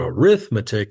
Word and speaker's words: arithmetic: Like, "Oh, he's working on his arithmetic." When you change it to an adjective, like a descriptor, you have to change the pronunciation.